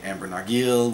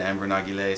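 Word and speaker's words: Ambre Narguilé: beer amber Nagi lay some people say amber nog yield whatever I don't know how to pronounce I just saw a video of jean-claude ellena and he said amber Nagi lay so that's what i call it a great one love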